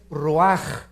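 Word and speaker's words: רוח: Nep se pronuncia nepeg porque la ch en hebreo es nepeg y la palabra espíritu es roaj. Se escribe ruach.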